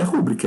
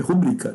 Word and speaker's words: rubrica: Agora não é rúbrica, é rubrica. Devem ser pronunciadas como oxítonas.